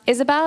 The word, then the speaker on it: Ysabel: next few days so my name is Isabelle it's pronounced Isabelle it's just spelled a bit weird um and my pronouns